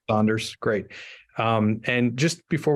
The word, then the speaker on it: Saunders: me Chad great and I I got the pronunciation of your last name right there that is correct Saunders great um and just before we get started